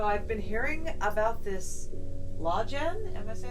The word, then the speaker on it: Lawgen: been hearing about this law Jen right oh yeah that's how it's pronounced it's actually spelled LA WGN like Law Genesis the idea is that